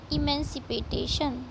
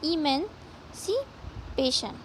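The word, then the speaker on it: emancipation: आवर, हमको हमारा political इमेंसिपेटेशन, sorry यहाँ थोड़ा कंफ्यूजिंग वर्ड है ना तो प्रोनाउंसिएशन गड़बड़ होता है। देखिए इमेंसिपेशन, ठीक है, इमेंसिपेशन।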